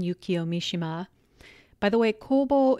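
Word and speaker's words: 公房: Mishima by the way Kobo is actually the Chinese pronunciation of the kanji that make up his Japanese name in Japanese his name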